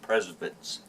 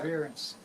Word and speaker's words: perseverance: Number 2, the success of preservance. Like preservation. Ah, How do you pronounce that? Perseverance. perseverance.